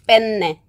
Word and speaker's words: penne: 반드시 발음을 빼내라 하세요 빼네 예 받침 있는 발음을 해야 합니다 빼네 만약에 받침이 없이